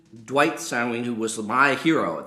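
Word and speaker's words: Sanguine: so me and dwight i can't say his name s-a-n-g-u-i-n-e saween dwight sawing who was my hero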